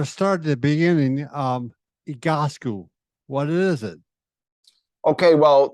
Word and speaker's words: Egoscue: will be tested on the spelling and the pronunciation. So I like how you got it there. So it is Egoscue.